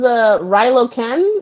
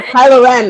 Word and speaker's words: Kylo Ren: He's like, oh my gosh, sides, and it's like, well, maybe not even Anakin Skywalker, because what was Rilo Ken? Oh yeah. That's even more. Kylo Ren.